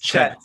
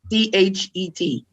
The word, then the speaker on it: Chet: Chet. Oh, okay. Chet, C-H-E-T.